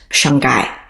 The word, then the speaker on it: Shanghai: Because H is silent, so the way they say Shanghai is Shanghai.